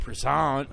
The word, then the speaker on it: Prizant: right I I uh you said it to me once like croissant and I always think